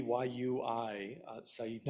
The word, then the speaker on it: Yui Saito: I pronounce it Yui, Y-U-I, Saito.